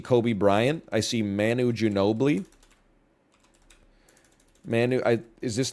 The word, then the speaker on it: Ginobili: James I see Kobe Bryant I see Manu Ginobili Manu I is this not Manu Ginobili Manu